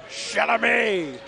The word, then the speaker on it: Chalamet: You got to pronounce it like Adam Sandler did. Chalamet.